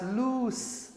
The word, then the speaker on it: loose: This is lose with Z sound but that's loose. That's s sound.